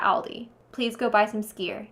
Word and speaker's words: skyr: Iceland is cool because they have something called skyr.